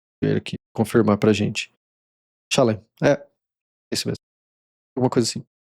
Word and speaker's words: Shalem: Completude é o nome do lugar, que é Shalom. É Shalom? Vou ver aqui, confirmar pra gente. Shalem, isso mesmo.